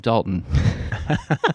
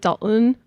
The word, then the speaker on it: Dalton: Most people pronounce it Dalton, not Dalton. It's Dalton. Yeah. It's Dalton, like mountain. Dalton. Yeah, Dalton. Anyway, moving on. I'm not from here, so I say Dalton, but most people drop the T.